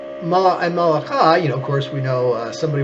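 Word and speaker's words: מלאך: Now, some of you who know a little bit of Hebrew might say, well, wait a minute, the word malach, that sounds like the word for king, melech.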